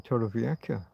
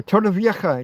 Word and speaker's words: Torrevieja: It's not really a cur, but I can't really do that like the Scots do with the loch.